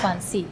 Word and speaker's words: Guanxi: Guanxi. Oh. Yeah. Sorry, my pronunciation.